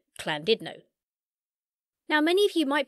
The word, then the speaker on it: Llandudno: Llandudno in North Wales, where I quickly found out the Welsh pronounce it Llandudno.